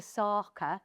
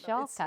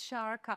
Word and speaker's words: Sharka: me, who calls you Sarka, and that's not your name, is it? It's Sharka. It's Sharka. As in a shark.